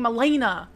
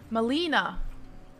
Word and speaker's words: Malena: ] Malena yeah but you were saying Milena like it's it's in English the correct pronunciation of e is e Molina what if it would